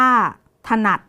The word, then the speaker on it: ถนัด: คำ ที่ 3 นะ คะ ถนัด อ่าน ว่า ถนัด ส่วน คำ ที่ มี อักษร กลาง นำ อักษร